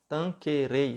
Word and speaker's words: Tanquerey: o compêndio de teologia ascética e mística do tanque rede tanquerey se escreve tanker e mas o nome do livro